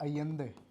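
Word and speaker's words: Allende: Chilli के जो head थे वो थे साल्वाडोर अयेंदे। डबल एल को स्पेनिश में एज वाई कहीं ना कहीं हम बोलते हैं, प्रोनाउंसिएशन में डिफरेंस आ जाता है।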